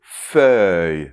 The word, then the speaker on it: feuille: Alors, le début, la consonne F, ça ne pose pas de problème normalement, mais c’est plutôt après. Donc après en fait, on a [œ] bien ouvert : [œ], [œ].